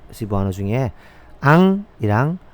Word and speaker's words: ang: 먼저 앙 보겠습니다. 앙. ang 영어로 ang 앙. 한번 따라해 볼까요? 앙. 앙. 네. 앙은요. 한국 발음으로 그냥 앙 납니다. ang니까 앙. 앙. 앙. 예, 이렇게 발음 납니다.